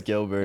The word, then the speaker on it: Guilbert: How do you say your last name? Is it Gilbert. Guilbert? It's Gilbert. It's not Guil? I mean, you can call it that if you'd like.